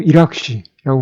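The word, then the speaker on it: hiérarchie: 그러니까 모뉴멘트 같은 느낌이 있다라는 거고 그 다음에 맨 아래쪽에 하이어라키, 불어로 이락쉬라고 발음을 하는데 그래도 나름 이게 위계가 있는 것이다 라는 설명을 붙여놓고 있습니다.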